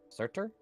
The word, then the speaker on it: Surtur: Surtur?